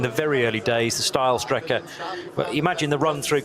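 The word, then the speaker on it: Steilstrecke: green no not quite steel Striker is now still Striker being that effectively the straight line route through the karachiola carousel so uh or style Striker would be the correct pronunciation where the track used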